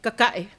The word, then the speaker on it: Kaka'e: I am Te Tae Ona I Leu'u, aka Kaka'e, pronounced with a K.